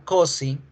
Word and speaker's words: cozy: Porque si se dan cuenta, por ejemplo, acá en la palabra cozy, la palabra está escrita con S, pero se pronuncia con Z.